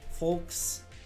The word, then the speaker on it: folks: Folks. You guys pronounce the L in folks.